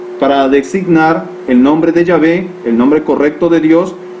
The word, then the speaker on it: Yahvé: vemos estos nombres jehová jehová es un barbarismo es una pronunciación mal expresada y motivada por la ausencia de vocales en el nombre impronunciable de yahvé con aplicaciones de las vocales erróneas ayo y a por lo